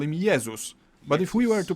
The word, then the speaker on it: Jezus: In Polish, we call him Jezus. But if we were to pronounce his name the English way, we'd write it down as Jesus.